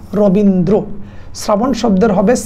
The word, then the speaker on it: রবীন্দ্র: তারপরে যদি একটু দেখো, আমরা শুদ্ধ উচ্চারণ যদি দেখি, রবীন্দ্র শব্দের শুদ্ধ উচ্চারণ হবে রবীন্দ্র, শ্রাবণ শব্দের হবে শ্রাবণ,